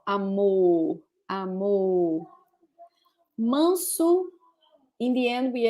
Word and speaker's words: amor: Amor.